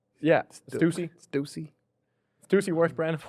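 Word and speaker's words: Stüssy: Stussy. Yeah. Stucey.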